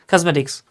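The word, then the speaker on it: cosmetics: এটার উচ্চারণ হলে কসমেটিক, কসমেটিক, কজ কজ জ, হ্যাঁ স না কিন্তু, কসমেটিক্স।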